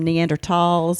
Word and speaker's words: Neanderthal: pronunciation of the word I grew up saying Neanderthal but now all the people that talk about this stuff are calling them neander talls and I don't know